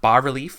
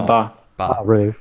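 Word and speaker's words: bas-relief: it called is it is it bar relief is that how you pronounce it or is it bass relief No ba Rel uh B relief carvings on the stone walls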